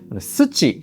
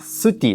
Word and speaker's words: SUTI: ジェミニに聞いて由来であるハンガリー語に近いシティという発音で読ませていただきます。